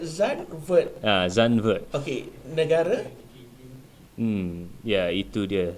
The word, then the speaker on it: Zandvoort: Dia punya pronounce dia Zandvoort.